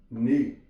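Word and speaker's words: knee: For example के N double E, यहां पे के साइलेंट है, हम इसका साउंड शुरू करेंगे एन से, नी।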